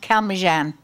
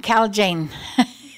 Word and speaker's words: Calmegan: His name is Henry Calmegan, and actually it's pronounced Calmejan, but he had the J changed to G. That's how we got J in there, because everybody was calling him Cal Jane.